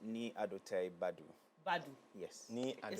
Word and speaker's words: Badu: What's the pronunciation? So it's Ni Adote Badu. Badu. Yes. Ni It sounds very properly. No, it's Badu. It's Badu.